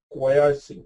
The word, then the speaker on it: quiescing: This quiescing means it's actually pronounced as quiescing. Okay, quiescing. I don't know, people pronounce it different way. So typically it's called as quiescing.